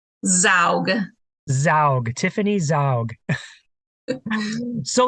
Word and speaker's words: Zaugg: Zaugg.